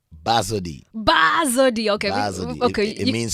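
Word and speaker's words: Bazodee: How do you pronounce it? Badozee? Badozee.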